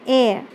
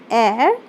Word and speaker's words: heir: So here we see our heir, honest, honorable. So here these words starts with H, but we do not pronounce the sound of H.